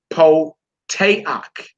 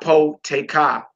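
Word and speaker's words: פותח: This next word we pronounce po-te-ak. Po-te-ak. Not po-te-ka.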